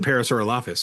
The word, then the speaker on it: Parasaurolophus: Do we just I pronounce it parasaural office, but that's okay.